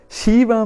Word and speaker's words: Shiva: He said, the Bhagavatam says, consisting of only 2 syllables, Shi and Va. The sound purifies one of all bad karma. Again, a transformative experience waits for us. Shiva means Mangala, writes my spiritual master, or auspicious.